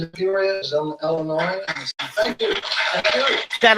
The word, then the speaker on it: Illinois: Shout out to my niggas in Illinois. People be fucking up my state, be calling it Illinois because it got an S on the end, but the S is silent, so it's Illinois.